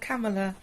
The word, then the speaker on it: Kamala: said kamala kamila kamala you can thank the pr the vice president of the united states for people mispronouncing my name nowadays hi kamela but um no you do pronounce my name kamala however it is the same spelling as kamala but um yeah they called